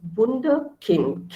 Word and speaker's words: Wunderkind: So I say Wunder because U in German is pronounced as U, okay? So U is pronounced as U. When we look at the alphabets, we look at the pronunciation. So it's Wunderkind.